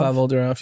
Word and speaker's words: Pavel Durov: So I don't know how to pronounce, is it Pavel Durov? Pavel Durov, yeah.